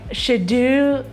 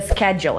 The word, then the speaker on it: schedule: Okay, if you said something like schedule or schedule, that's not it. We need the schedule here because it's always tight.